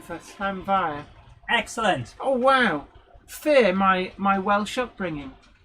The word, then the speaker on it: Llanfair: Gwion Reese Davies, big hello to you, says that is the correct pronunciation for Llanfair.